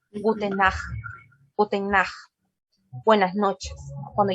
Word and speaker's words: Nacht: Esta CH tiene sonido de J.